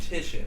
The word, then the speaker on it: Titian: The name is pronounced Titian if you're playing this at home.